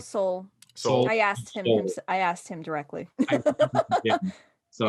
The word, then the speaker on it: Soule: How do y'all pronounce his last Carl name? Soule.